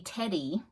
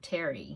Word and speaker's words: Terri: and he called me Teddy not funny my dog's Teddy he called me Teddy and that's just how he pronounced my name Terry you know I don't